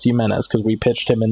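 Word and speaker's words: Jiménez: So Joe Jimenez, and I have confirmed that it is how you pronounce his name. It's Jimenez because we pitched him in that game.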